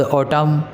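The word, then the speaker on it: autumn: Summer double M आएगा कहीं तो भी, उसके बाद ऑटम एम एन आएगा तभी म बोला जाएगा, राइट। एन साइलेंट हो जाता है, याद रखिएगा, जहाँ भी एम एन एक साथ आएगा तो एन साइलेंट होता है।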